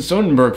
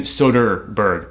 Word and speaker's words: Soderbergh: this film I'm not even the biggest Stephen Sonnenberg fan as you can tell because I've been mispronouncing his name Dalton Steven Soderbergh not so Dean Berg now he sell it